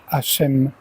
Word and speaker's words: Hachem: Parmi tous les noms, majuscules, il en est un plus cité que les autres dans la Torah, l'ineffable Yodé-Vav-Hé, Yahvé, prononcé Hachem, le nom.